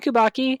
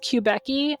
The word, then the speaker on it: Kubacki: Yes, Stephen Kubacki. I think that's how you say his name. I don't know. I've heard it pronounced Quebecy, but I don't know why you would say Beck, because there's an A, and I'm annoying, so it's Stephen fine. Bukaki? Kubacki. Okay, Kubacki.